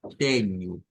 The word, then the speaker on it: tenho: Igual, teño, es con una U que debemos de hacer sonar.